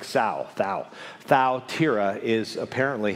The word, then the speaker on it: Thyatira: greek if i get this right the correct pronunciation is faltera right would you say it with me thaltera and the only way i could remember is like south thou thou tira is apparently how you pronounce that town and